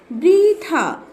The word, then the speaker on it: বৃথা: ঘ রিকার ঘি এবং মূর্ধন্য ন আকার না, তাহলে শব্দটির উচ্চারণ হবে ঘৃণা। বৃথা, ব রিকার বৃ, থ আকার থা, বৃথা।